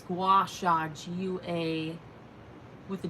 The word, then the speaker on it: gua sha: release that superstar is no good i am pronouncing it right it's it's gua shag you a with a g g-u-a-s-h-a i just